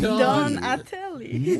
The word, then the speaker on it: Donatelle: So he got sick of that, and so he changed the spelling to LLE, but he still pronounced it Donatelli. And the police kept on giving him trouble. So then he decided finally just to make the E silent and not bother with the paperwork to change the spelling again. So it just became Donatel.